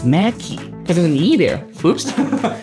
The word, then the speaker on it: McKay: He is I feel I'm saying Rem wrong cuz I feel he keeps saying it pronounce it K or K Mackey Macki. Oh, it's Mackie.